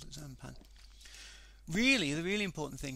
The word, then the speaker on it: Xanpan: If you cross the two together, you get Xanpan, pronounced Xanpan. The X becomes a Z when you pronounce it.